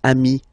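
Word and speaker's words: amis: form Ami plural form you add this s but it's Ami as well okay in that case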